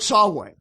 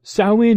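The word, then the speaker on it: Samhain: their dead what that makes no sense Lord sway that's spelled s m ha a i n that's the historical druidic demon to whom this day is dedicated no Sinn is the Irish name for the end of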